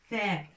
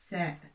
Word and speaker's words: ثاء: Il faut toujours sortir la langue pour le prononcer. حرف الثاء ليس التاء مثل تو تون تمر ولكن حرف الثاء. ثاء. نخرج اللسان ما بين الأسنان وننطق حرف الثاء. ثاء.